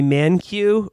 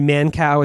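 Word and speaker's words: Mankiw: times by the conservative uh economist uh gregory mancu who i mean gregory mancow is actually how you pronounce that that guy sucks so much he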